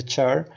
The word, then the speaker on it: char: We pronounce this as a char.